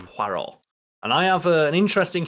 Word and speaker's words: Poirot: is on Hercule Poirot, and that is Poirot, because the character will always correct you on the pronunciation of his name. It's not Poirot. It's not Poirot now, which I always thought it was a kid. So it's Poirot.